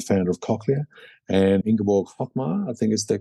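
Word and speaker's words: Hochmair: who is a founder of Cochlear, and Ingeborg Hochmeier, I think is the correct pronunciation, who company became Medel, which is an Austrian company.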